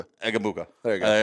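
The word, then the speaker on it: Egbuka: Just say it real fast. Egabuka. Egabuka.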